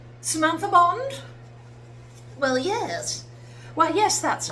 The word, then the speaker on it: Samantha Bond: Samantha Bond. Well, yes. Well, yes, that's me. Actually, they don't say it like that, do they? Cuz they're American. Samantha Barn, which also, to be fair, sounds pretty cool.